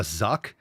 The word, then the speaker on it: Zucc: Oh, a zuck. Oh, that that's pronounced Zuck probably like Zuckerberg.